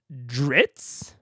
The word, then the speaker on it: Drizzt: I think it's pronounced Dritz. Dritz? What about the Z's? Are you telling me this motherfucker has 2 silent Z's in his name?